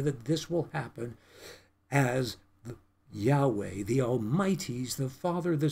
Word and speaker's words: Yahweh: sacred name of God, which is Yahweh, or Jehovah, as some like to pronounce it, which is not as accurate.